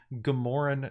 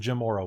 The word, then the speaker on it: Jamora: So Malia and Mars, you are introduced to a strange Gamoran nectar. Now, the Gamora wastes, or the Jamora wastes, as they like to be pronounced, are the central heart of the living sand desert.